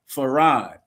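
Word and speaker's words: Fard: F A R R A D is how it's pronounced.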